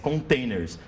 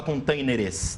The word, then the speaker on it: containers: containers né E daí na pronúncia como se a gente fala muito pouquinho né a gente não fala containeres tão tão pontuado quando você lê containeres você às vezes fala containers e você acaba na